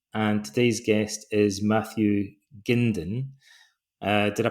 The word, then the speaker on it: Gindin: My name is Donald Robertson and today's guest is Matthew Gindin. Did I pronounce that right?